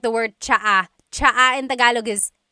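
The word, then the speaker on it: tsaa: And it's spelled T S A. Cha. Cha. That's such a Tagalog spelling. I love it. There's the ts sound and then the double vowel uh pronunciation. Cha.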